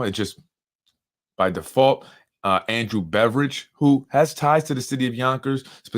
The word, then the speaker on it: Beveridge: name of Andrew Beveridge, not spelled like beverage, but more like Bev and Ridge Hill. Beveridge.